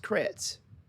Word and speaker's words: Kretz: It's pronounced Kretz. Mr. Kurtz, I apologize. No problem. I don't know any Kurtzes. You put Kurtz in my mind when you're like, it's not Kurtz.